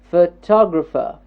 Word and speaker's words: photographer: good photograph yes the first word the first syllable is getting stressed photograph photograph yes photograph good in the second word photographer photographer photographer it's a four syllabic word and what's